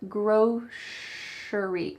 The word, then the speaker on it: grocery: there's two pronunciations actually you can say grocery grocery with an s grocery but you're more likely to hear at least that's what i say you're more likely to hear gross shari like an sh grocery